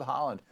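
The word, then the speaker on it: Haaland: say your name well it sounds like it's pronounced like the country is spelled H a a LAN d your web site right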